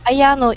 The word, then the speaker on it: Ayano: I say it correctly is it aano like that yes Ayano is correct correct okay very good